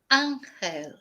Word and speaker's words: ángel: Whereas in Spanish it's ángel. Ángel. So angel, ángel.